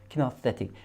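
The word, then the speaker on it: kinesthetic: 예, 여기에 액센트가 오기 때문에 키너세틱.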